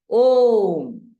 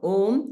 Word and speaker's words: Om: It's made of 3 syllables. A, U, Ma.